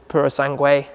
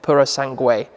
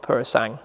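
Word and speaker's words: Purosangue: the suv the rumored purosangway that's how you pronounce it by the way i think purosangway it's not purosang anyway that's fuv ferrari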